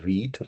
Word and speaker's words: Vite: over here what is weed it's actually a French word for quick which is pronounced pronounced as weed course so a modern